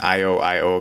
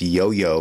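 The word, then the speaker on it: IOIO: with the with the i keep saying i o i o card but i've been corrected it's pronounced yo-yo card you can see the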